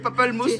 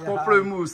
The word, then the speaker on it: pamplemousse: Voilà, pamplemousse, hein, voilà. Oui, parce que moi, je prononce pas le... comme il a dit. Ben oui, à Madagascar, on prononce pas pareil que la Réunion.